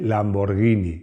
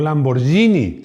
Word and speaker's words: Lamborghini: Se dice Lamborghini, no Lamborghini. Seguro que no dices Spaghetti, ¿a que no?